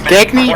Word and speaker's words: Gagny: Is that pronounced Gagny or Gagne? Gagny.